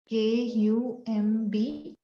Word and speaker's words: Kumbhaka: Actually, A is only added when we write these things in English. So it's actually Purak, Rechak and Kumbhak. If you want to get the right pronunciation, it's Purak, Rechak, Kumbhak. Right?